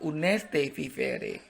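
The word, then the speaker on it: honeste vivere: ferry dalam hidup terhormat Oke tulisannya mungkin anda agak bingung tulisannya honesty vivere tapi kok saya baca Unes TV Free karena ternyata begitulah ucapan Latinnya gitu dan Kebanyakan yang huruf ha itu di beberapa bahasa itu tidak dibaca contohnya aja bahasa Inggris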